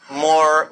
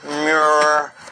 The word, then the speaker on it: Moor: What connects it up is even the word Moor, because it's pronounced differently in different parts of Africa. And they call themselves Moor, Mu, Muir. There's all variations of that.